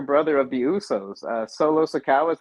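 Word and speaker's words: Solo Sikoa: and the younger brother of the usos uh solo sakawa is how you say his name uh yeah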